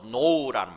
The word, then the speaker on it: know: 영어로 know라는 말 있죠. know, K-N-O-W잖아요. 그걸 그대로 읽으면, 철자대로 읽으면 know가 되지 않습니까? know. K가 묵음이다 보니까 know라고 읽는데 know예요. 거기 나온 거예요.